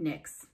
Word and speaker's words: Nyx: she ever knew that i know it's spelled differently but seems kind of neat that your last name is like kind of the same sound as a goddess it is said that